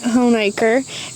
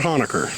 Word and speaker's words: Honaker: virginia all right and i am pronouncing it right home acre and i'm going to tell you guys some cool history and how i know that we are saying that right so it's not hanukkah it's not hanukkah and